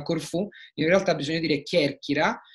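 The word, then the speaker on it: Κέρκυρα: hanno fatto notare come non pronunci bene alcune sillabe, come per esempio io dico che e chi, quindi Kerkira, lo dico sbagliato, Kerkira, che significa Corfù, in realtà bisogna dire Kerkira, e quindi ho le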